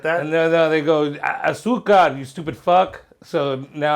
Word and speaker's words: azúcar: azúcar. And But I used to say Azucar, yeah. Azúcar.